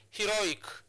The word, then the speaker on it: heroic: So that's why we are placing our stress marker on the second syllable. So heroic. So it's heroic. So you place your stress marker on this syllable.